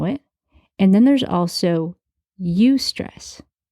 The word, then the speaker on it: eustress: There's stress as we know it, and then there's also eustress. It's spelled E-U-S-T-R-E-S-S, eustress.